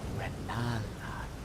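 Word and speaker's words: Rennala: No, my name is pronounced Rala.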